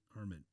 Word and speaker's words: Arman: Pronounce that right? Yep. Arman.